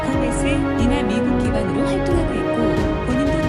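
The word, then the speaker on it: Gomez: 스페인어 성이라 원어 발음은 고메즈가 아니라 고메스이나 미국 기반으로 활동하고 있고 본인도 미국인이므로 종종 설리나 고메즈 정도의 발음으로 불릴 때도 있다.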